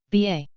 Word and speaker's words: ba: hieroglyphs B g53 in hieroglyphs the B egyptological pronunciation ba was everything that makes an individual unique similar